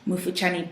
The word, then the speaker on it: Mufuchani: It's a Bemba name. I think so, yes. Mufuchani, that's the pronunciation.